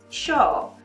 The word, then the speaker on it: yo: I say yo, but there's a lot of people, especially from Argentina and Uruguay, who say it like differently. They say like sho, but I don't trust me in that because I'm not from there.